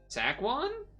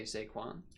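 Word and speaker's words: Saquon: know how you're supposed to say his name tackan zackon I I don't know how you're supposed to say it sequan sequan okay okay sequan yeah that was a crazy move well crazy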